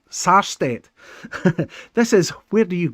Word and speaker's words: Sarstedt: It's Peter Starstedt. Is that right? Peter Starstedt, not Star, Sarstedt.